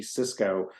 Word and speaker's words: Csicsko: easy name to spell it's Hungarian corrected by Canadians so my last name is spelled CSI CSK K and it's Cisco if you type in